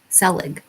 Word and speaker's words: Selig: always say his name ron paul um selig selig it's s-e-l-i-g select he's an older guy he